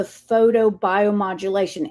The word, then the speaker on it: photobiomodulation: Well, Sarah, tell me a little bit, tell the listeners what makes the CeraThrive approach to the photobiomodulation. Am I pronouncing it right?